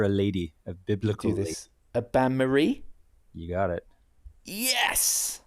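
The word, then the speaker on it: bain-marie: the named after a lady of biblical a banmarie. You got it. Yes. It's a merry bath. How do we spell that?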